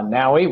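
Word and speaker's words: NAWI: this great opportunity called naui uh naui rhymes with Maui is the energy water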